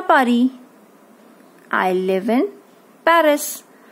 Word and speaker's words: Paris: I live in Paris. Now this is pronounced Paris.